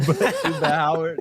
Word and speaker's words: Chuba Hubbard: I was like, man, is that how you pronounce his name? Chuba Howard.